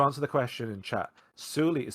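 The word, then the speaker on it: Souli: the question in chat suli is spelled uh well it's spelled with three banu characters which are such pronounced with a break between the u and the u um and it's spelled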